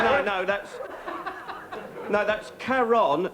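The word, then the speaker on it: Charon: no that's no that's karon c h a r o n yeah although most people pronounce it Sharon which really ps's me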